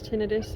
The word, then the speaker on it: tinnitus: I deal with tinnitus, which is the ringing tinnitus. It's pronounced both ways. You hear people say it both ways.